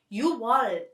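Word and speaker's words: 유월: 6 is 6, so it should be 6월 technically, but 6월 is hard to pronounce, right? So Korean people get rid of 기역 and say 6월 instead.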